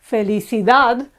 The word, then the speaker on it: felicidad: know a longer one happiness is felicidad felicidad again it's the last syllable that's accentuated so we have consonants